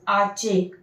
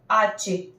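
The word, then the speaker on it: hache: So over here, this H is silent and this CH is making the sound of cha. That's why it is arche.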